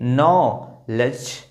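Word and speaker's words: knowledge: तो जी से पहले जब डी आता है इसको नहीं बनाना। देखिए कहां प्रोनाउंस किया जा रहा है डी को? देखिए नो लेज नॉलेज तो डी जो है वो क्या हो गया यहां पर साइलेंट हो गया।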